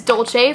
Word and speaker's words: Dolce: the sale this is Dolce from by Rosie Jane oh my God Dolce Dulce I've heard it pronounced both ways I think it's Dolce either way though all